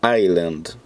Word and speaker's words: Island: Tem gente que deve achar que é Iceland, mas se falar Island, o S é mudo.